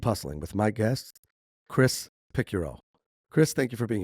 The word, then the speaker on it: Picciurro: Welcome to Keep Hustling with my guest, Chris Picuro.